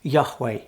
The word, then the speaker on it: Yahweh: It's 4 letters in the Hebrew, YHWH, and we believe it's pronounced Yahweh.